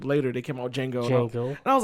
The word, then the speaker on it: Django: And then years and years and years like later, they came out with Django. And I was like, oh my god! I was like, the D is silent.